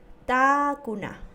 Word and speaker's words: takuna: Takuna. Takuna. ¿Qué significa silla? Vamos a mantener un momento la pronunciación de la vocal A. Es decir, takuna.